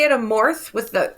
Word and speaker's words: Amorth: I think we typically say it Amorth with the H on the end, but I think in Italy it's Amort. Amort? With the T at the end. Okay. No H.